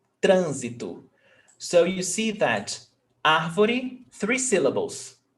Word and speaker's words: trânsito: And the stressed syllable is not the last, not the one before last, is the one before that one. So the antepenultimate syllable.